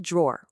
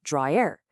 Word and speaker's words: drawer: The one syllable drawer refers to an object, but the two syllable dry air, well, that refers to a person.